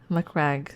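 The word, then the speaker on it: Macragge: Uh, you pronounce the A in like the Mac in Big Mac. Okay. Mccrag.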